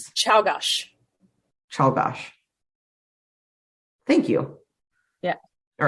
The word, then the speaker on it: Czolgosz: leadership, because in 1901, this guy named Leon Czolgosz, okay. I'm going with Czolgosz, and I'm sorry if it's wrong. I don't care. He assassinated... It feels Polish. Yeah. It's Czolgosz.